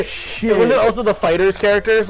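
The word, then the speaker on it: FighterZ: We keep calling it Fighter Z because it looks like that, but it is technically supposed to be pronounced Fighters. Fighters. Like the Z is supposed to be an S, basically.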